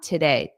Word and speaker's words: today: Make sure you get that syllable stress on today.